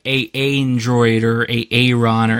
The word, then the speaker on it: aandroidd: thumb over everything and it's it's it is pronounced Android right not not like a Android or a a run or anything like that